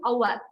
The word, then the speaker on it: au revoir: The way it's pronounced is our. When you're going in the speed, you just say our.